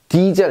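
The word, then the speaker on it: Diesel: 그래서 여기 보시면 디젤 이렇게 읽죠. 디젤. 그렇죠? 예, 얘면 D, 얘가 대라고 해서 대젤 이렇게 안 한다는 거예요.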